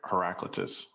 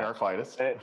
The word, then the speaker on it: Heraclitus: Heraclitus. In the Greek, the accent is on the alpha.